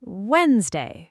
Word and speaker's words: Wednesday: Very common first attempt, but there's a silent D hiding in the middle. Try it the natural way, faster. Wednesday.